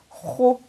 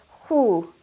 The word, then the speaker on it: خُ: Kha with dhamma, again with a full mouth, is pronounced as khu. Kha with the long vowel of dhamma will be pronounced as khu. Remember, you're not pronouncing it as khu, which is lighter and softer and sweeter.